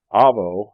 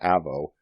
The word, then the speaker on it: Avvo: colleagues seeking legal advice Avo it's pronounced with a long a not Avo was derived from avocado